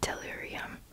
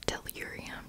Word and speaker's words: tellurium: go chemistry are you made of copper and delirium i can't pronounce that tellurium tellurium because you are cu e c u